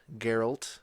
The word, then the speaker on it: Geralt: are there last episode Geralt with a G Geralt I'm getting there the